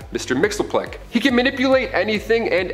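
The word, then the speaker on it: Mxyzptlk: Fifth Dimension close enough his real name doesn't even translate into Earth's languages but we collectively pronounce it as Mr mixeli he can manipulate anything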